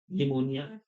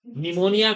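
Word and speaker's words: pneumonia: में रहने चाहिए तो पी से शुरू होती है पी एन न्यू मोनिया है ना इसलिए बच्चे गलती ना करें कुछ स्पेलिंग ऐसी है पी के बाद होती है तो जैसे साइलेंट रहते हैं है ना य ध्यान में रखना हा किससे होती है भैया निमोनिया निमोनिया को करने के लिए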